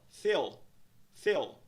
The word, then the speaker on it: fill: Nós vemos no padrão de pronúncia o som de vogal e curva, que soa como E. A palavra tem apenas uma sílaba, um som de vogal, uma sílaba. Pronúncia da palavra é, então, fill. A palavra é pronunciada como um inteiro.